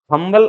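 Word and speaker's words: humble: यहाँ H silent नहीं है, यहाँ एच साइलेंट नहीं है, हम्बल आवाज आ रहा है, इसलिए है से शुरू होने की वजह से यहाँ पर ए आएगा।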